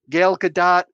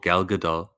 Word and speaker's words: Gal Gadot: to need henry cavill gail gadot um henry cavill gal gadot um what did i say it wrong yeah you keep calling her gail what's her name gal gal okay guys and gals